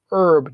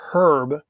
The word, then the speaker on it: herb: because we pronounce it herb not herb we would say an herb just like an orange so it's not whether